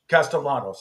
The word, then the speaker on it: Castellanos: Does he pronounce the L's or not pronounce the L? Castellanos.